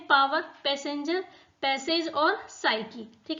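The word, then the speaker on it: psyche: तो 4P इसमें होते हैं पावर, पैसेंजर, पैसेज और साइकी। ठीक है, साइकी में P आ रहा है, P क्या है इसमें? साइलेंट है।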